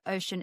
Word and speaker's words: Oshun: Ocean is spelled OSHUN.